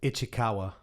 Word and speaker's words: Ichikawa: I want to make sure I pronounce it right. Chuck, how do you say? Ichikawa.